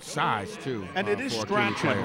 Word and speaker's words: Strachan: And it is Strachan, right? Not Strawn, because some people will pronounce it Strawn, other people will say Strachan.